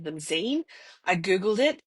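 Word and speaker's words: zine: Um, but then I heard Claire talking about them and she pronounces them Zen. I googled it. It is the double e sound, so it's definitely called a zen.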